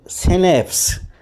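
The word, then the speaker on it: Schnapps: ए पी पी एस इसको हम pronounce करेंगे किस तरह एस और नेप्स यानी सिनेप्स शैंपेन होती है एक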